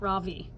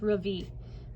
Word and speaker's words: Ravi: say his name correctly his name is not ravi it's ravi so say it right we have to find